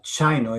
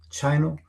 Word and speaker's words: Sino: So right now, about a week ago, Chino is spelled Sino truck. Chino it's spelled Sino truck.